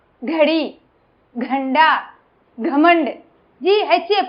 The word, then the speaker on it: घ: घ, घड़ी, घंटा, घमंड. GHA pronunciation. இந்த ரெண்டாவது லெட்டருக்கும் நாலாவது லெட்டருக்கும் பாத்தீங்கன்னா அந்த H சவுண்ட், அந்த அடி வயித்துல அந்த H சவுண்ட் நம்ம சொல்லணும்.